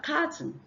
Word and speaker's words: carton: You have carton. The O here becomes a schwa sound. So the O is silent.